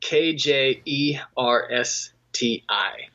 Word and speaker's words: Kjersti: C so it's spelt get this spelt KJ e RS TI so if somebody like Swedish or Norwegian or spectable agent it's Norwegian silver we're a predominately Norwegian and Kjersti okay that makes